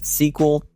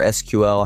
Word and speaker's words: SQL: You can start off with things like SQL or SQL, however you want to pronounce it, the querying language, Excel, and some type of data visualization tool like Tableau or PowerBI.